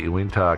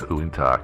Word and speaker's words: Uintah: uh I called the Uintah County I think it's oonta County so I slightly mispronounce it sorry uh Sheriff's Office